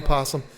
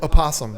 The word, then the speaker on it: opossum: everybody started like Oh possum possum is an opossum that's the it's it's called an opossum that is the the the actual like name of that animal what everybody pronounces it